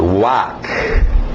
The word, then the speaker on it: walk: Agora sim, o L é mudo, por isso que eu não coloquei nessa primeira escrita, só para vocês acertarem a pronúncia. To walk. To, já está na posição dos lábios para o W.